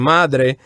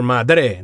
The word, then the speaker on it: madre: that we learn here Padre and Madre the accents go in the first syllables as opposed to the last syllables don't say padre or madre no padre first syllables madre first syllabus so it's